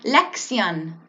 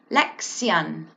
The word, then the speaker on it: lección: Lex young Lex young and you'll see those two seas which kind of makes a sound Lex young and then we have the accent on top of the Oh which kind of makes that oh that oh sound lifts up a little bit more prominently and loudly so